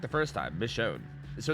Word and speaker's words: Michonne: Michonne. So it's like Michonne. Correct the first time. Michonne.